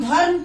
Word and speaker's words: धर्म: और उसका उच्चारण जब करते हैं तो यहाँ हम धर्म पढ़ेंगे, लेकिन ध र म नहीं पढ़ेंगे। र पूरा नहीं पढ़ के हम धर्म, र को हम तुरंत, र के तुरंत बाद हम म का उच्चारण कर देते हैं, क्योंकि यहाँ जो र